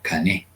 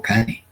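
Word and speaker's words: קנה: estas tres letricas, que para pronunciarse en el hebreo se pronuncia cané o cane.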